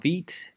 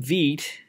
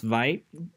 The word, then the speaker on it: Vite: it uh now first thing first the name veed comes from french it's not pronounced vipe it's vt in french and it means rapid quickly and you see why i picked this name uh very soon functionally veet is similar to a pre-configured webpack plus webpack